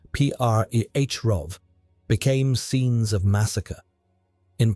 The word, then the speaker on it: Přerov: Towns like Postelberg, Ústí, pronounced O-O-O-Sti, and Přerov, pronounced P-R-E-H-Rov, became scenes of massacre.